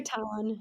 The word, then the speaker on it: Catan: You say Catan.